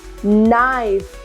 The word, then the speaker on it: knife: This is knife. This one is no. Not. Not means gaunt, yes? Knack. Again, there is silent K in this one.